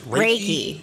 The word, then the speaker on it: Reiki: Reiki. Yeah. Like you're raking.